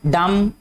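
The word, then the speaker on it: dumb: इसके बाद है डम, डी यू एम बी, ठीक है, इसमें ये जो बी है ये भी क्या है, साइलेंट आएगा।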